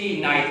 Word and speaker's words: knight: तो बच्चों देख लें, अगर एन से पहले के लगा दें, नाइट, जैसे KNIGHT नाइट, इसका मतलब है ये टाइटल के तौर पर इस्तेमाल होता है वर्ड।